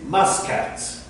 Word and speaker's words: Muscat: I think the correct pronunciation for this is Muscat.